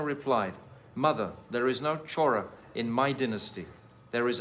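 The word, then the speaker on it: चोर: Chora. Chora. Thief. And there's a footnote that actually in Yashoda's dynasty, there was a thief called Chora Ghosh, Gopa. To this, Sri Krishna replied, "Mother, there is no Chora in my dynasty.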